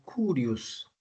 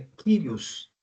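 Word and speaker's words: κύριος: a palavra senhor eh no Grego é a palavra kirios aí está transliterado por curios mas a pronúncia correta é quiros Tá bem então vão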